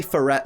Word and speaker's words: Furret: number four turret now I know I say furet sometimes and a lot of people say furet because it's just more comfortable to say in an English voice but it is technically pronounced Furret because it's based on fair it just makes